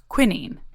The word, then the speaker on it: quinine: We spoke with Kassia about William Perkin, who is determined to create a synthetic version of a substance called quinine, or as the Brits say, quinine.